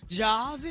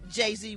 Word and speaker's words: Jay-Z: Is it now PRONOUNCED JAW-Z? I THINK IT'S JUST Jay-Z with those two dots so he can get